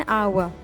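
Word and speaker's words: hour: डी है, I will be back with in एन आवर। आवर के साथ आप एन यूज़ करेंगे क्योंकि इसमें आपके पास एच साइलेंट है और आपके पास जो साउंड निकलती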